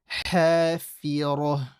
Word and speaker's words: الْحَافِرَةِ: Fil, ha, from the middle of the throat. Ha, make it strong. Fi, empty. Ra is heavy. Hafira. Hafi, make the E sound proper.